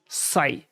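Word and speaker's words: psi: लिखते हैं wave function साई इसको हम वेव फंक्शन साइ से डिनोट करते हैं ठीक है प साइलेंट और इसको लिखते हैं हम साई तो उसके बेस पर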